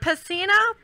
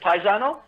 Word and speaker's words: Pisano: It's pretty good, but most people pronounce it paisano. Paisano. Is that how you It's pronounce kind it? of like kind of like friend in Italian. Okay. But technically, if you're in Italy, it's pisano. Pisano. But we're it's not in Italy, so you can pronounce it any way you want.